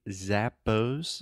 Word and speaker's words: Zappos: a quick pronunciation tip when we say Zappos Zappos this is a very good example of at least American North American English pronunciation we say ah so try to say